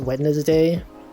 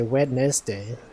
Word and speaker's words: Wednesday: don't even know it they don't even know the the n and the D are reversed for some reason right it's like a